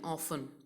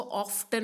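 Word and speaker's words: often: एफ टी ई एन ऑफ इस word में T silent है सो आप इसको ऑफ्टन नहीं बोलोगे आप बोलोगे ऑफ्टन okay the pronunciation ऑफ this word is ऑफें ऑफ means हमेशा ओके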